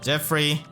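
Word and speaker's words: Geoffrey: Okay, Jeffrey just gonna be showing up, and I know many people do point out that that's not how you pronounce his name, but he literally says his name like that in his voice line. So I'm just following the official pronunciation.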